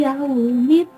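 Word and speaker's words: يوم الدين: Yaumiddin hukum bacaannya idgham samsiyah, karena ada lam ta'rif diikuti dal dan mad arid li sukun, karena sebelum waqaf ada mad tabi'i. Cara membacanya boleh panjang 4 harokat atau lebih, dan juga boleh 2 harokat. Dan juga karena adanya huruf lam bertemu dengan dal, cara membacanya dimasukkan ke dalam huruf dal.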